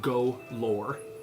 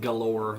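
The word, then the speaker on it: Golorr: Golore. Okay. not galore like candy galore or gold galore.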